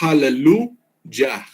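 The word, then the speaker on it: הללויה: Desde el hebreo es halelujah. Halelujah. Así es como aparece en el hebreo dos palabras, se escriben así todo bonito, y se lee como está escrito aquí abajito.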